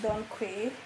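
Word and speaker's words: Dong Quai: This is the powder of the chasteberry, and this is the Don Quay or Don Qua. I pronounce it Don Quay most times, and this is also in the powdered form.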